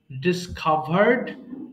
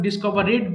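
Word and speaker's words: discovered: আচ্ছা, ডিসকভার আবিষ্কার করা, ডিসকভার, ডিসকভার্ড, ডিসকভার্ড। বাট এটা অনেকে ভুল করে ডিসকভারেড বলে ফেলে। হ্যাঁ, উচ্চারণটা একটু খেয়াল করবেন। ডিসকভার্ড, ডিসকভার্ড।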